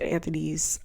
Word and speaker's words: Anthony: I'm sorry, I keep saying Anthony, it's Anthony.